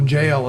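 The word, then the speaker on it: gaol: So, as many people know, jail is spelled in the Old English style. That's right. G-A-O-L.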